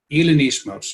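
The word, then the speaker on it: Hellenismos: Hellinismos.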